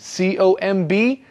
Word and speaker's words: comb: use a comb remember the comb has no B sound at the end co mb but you don't save a bee just comb yes it's one of those interesting words in English with a letter that we don't actually say but you must